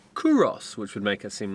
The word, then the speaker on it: Culross: This, up until about 10 minutes ago, we thought was called Culross, but from the quick research we've done, we think it's pronounced Culross, which would make it